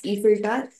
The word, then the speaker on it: Eiffel Tower: Sorry, it is to be pronounced as Eiffel Tower.